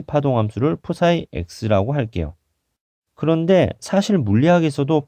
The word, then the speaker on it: psi: 파동함수는 F가 아니라 이런 식으로 쓰고 psi라고 읽습니다.